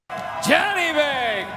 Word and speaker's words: Janibek: On the way out the door, Sergio, I want our producer Adam to play for you the correct pronunciation of Janibek. Janibek, Kazakhstan.